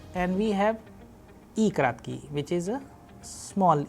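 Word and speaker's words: и краткое: Next letter is E kratki, E kratki. The basic difference between E and E kratki is that E is a vowel whereas E kratki is a consonant. Second, that the sound of E kratki is smaller, and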